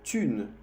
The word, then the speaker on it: thune: Le fric, le pognon, la thune, el H no se pronuncia.